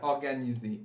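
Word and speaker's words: organisé: No plural, tenho que adicionar um S. Só que todas essas letras que eu estou adicionando, elas não são pronunciadas.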